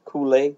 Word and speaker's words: Kool-Aid: So, how you want to say it, the correct way is Kool-Aid. That's what the dictionary says. But if you live down the road from me, you said Koolie.